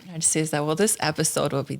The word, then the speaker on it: Narcyza: Narcyza. Narcyza.